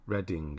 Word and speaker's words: Reading: should be ready it should be not reading or pronounce it red yeah Redding isn't it but then red is spelled that way it's weird isn't it